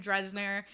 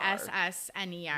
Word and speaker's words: Dessner: Aaron Dressner, and it's definitely Desner. And I re-listened to our podcast too, and I'm pretty sure we called him Dressner like 4,000 times. Wait, what is Desner? Yeah. Like D-E-Z-N-E-R. Dessner.